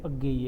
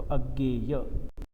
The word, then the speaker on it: अज्ञेय: बताया है कि जब मराठी में पढ़ते हैं तो अज्ञेय होगा, लेकिन हिंदी में जब आप इसको पढ़ते हैं तो अज्ञेय। ज्ञ जो है मराठी में जिसको ज्ञ बोलते हैं, उसको हिंदी में ज्ञ उच्चारण होता है।